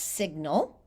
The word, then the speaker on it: signal: same word family as signal. We say them really differently. So sign, S-I-G-N, sign, the G is silent, and signal, the G you can hear, which is so English, so problematic.